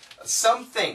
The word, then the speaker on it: something: And the pronunciation is some, and with the P, we use the glottal stop.